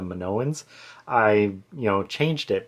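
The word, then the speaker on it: Minoans: And so yeah, I since I kind of got it wrong, I said my sance instead of manowans, I you know, changed it, but instead of just saying like, you know, just saying manoans, I, you know, did some research.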